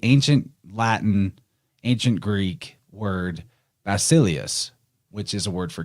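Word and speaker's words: βασιλεύς: Latin ancient Greek word basilius which is a word for King now in the modern Greek they would actually pronounce that beta like a V so it' be vasilius then in Latin of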